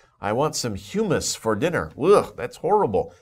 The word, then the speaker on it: humus: word before it's humus humus the pronunciation is humus sometimes people get a little confused about that but humus think about another word that's pronounced very similarly but is a different word human but this is humus